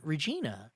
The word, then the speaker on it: Regina: mccartney was playing in regina rhymes with you-know-what mike regina i guess